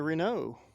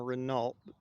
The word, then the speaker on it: Renault: And this appears to be a Renault. And most of us Americans call him a Renault because that's how it's spelled, but it's actually Renault.